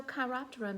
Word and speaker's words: chiroptera: resource for all things science and nature so chiroptera means hand wing so when we look at